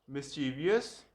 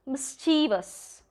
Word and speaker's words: mischievous: coupon, coupon, schedule, schedule, schedule, poem, poem, poem, मिस्चीवियस, mischievous, mischievous, cache, cash, cash,